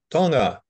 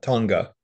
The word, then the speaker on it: Tonga: these islands is not the way that they pronounce it so it's Tonga not Tonga and it's Samoa not Samoa Samoa anyway um